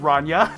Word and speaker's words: Rania: Rania, which they say is pronounced Ranya, says that if they were